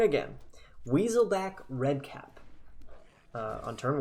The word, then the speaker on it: Weaselback Redcap: But we do get Weaselcap Redback. Nope, I said it wrong again. Weaselback Redcap on turn 1, which is not as good as Venerable Knight.